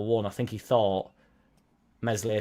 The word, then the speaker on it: Meslier: I think he thought Meslier Silent S would have been moved on at the time, who has now been moved on, or contracts run out and he's going.